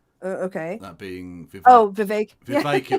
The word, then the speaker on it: Vivek: that being VI oh vi vi rhymes with cake he totally coward in